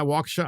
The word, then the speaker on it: Waukesha: Yeah, Waukesha. I always have a hard time with that name because it's just, I know it's a Native American name, but it's just like kind of out there. So Waukesha County Circuit Court Judge Brad Schimmel granted a